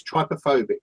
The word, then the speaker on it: trypophobia: this couch is quite true is the correct pronunciation anyway I'll try because it's trypophobia yes somebody somebody chemically look have a look